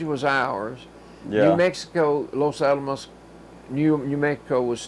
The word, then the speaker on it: Los Alamos: I tell you that the name of that New Mexico town is a little hard to pronounce. Los Alamos. Los Alamos.